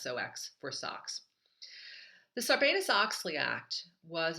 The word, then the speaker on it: SOX: the question today is what is socks not the socks that we wear on our feet but socks s Ox is how it's spelled that's the sarbus Oxley